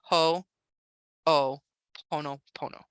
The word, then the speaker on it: Ho'oponopono: If there's anything in you that says this is anything other than divine love, that's a place for Ho'oponopono. How do you spell that? H-O apostrophe O-P-O-N-O-P-O-N-O. Ho'oponopono.